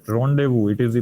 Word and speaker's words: rendezvous: Rendezvous, it is the pronunciation of this word, right?